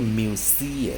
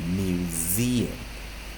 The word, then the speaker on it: museum: 那当然 s 特殊发音成日，s 去拉成日，无声 s 拉成有声日，它不是念 museum，它是念 museum。